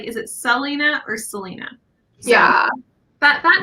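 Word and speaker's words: Celaena: Do you pronounce the other name Selena? It's Selena, yeah.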